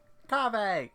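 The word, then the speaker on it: Kaveh: and inviting is over yeah what's going on coffee is how you say his name ah you're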